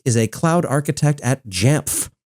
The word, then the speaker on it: Jamf: a cloud architect at J I know J sounds like I'm trying to pronounce letters that are designed to be silent but no no it's four letters J MF J Levi thanks for joining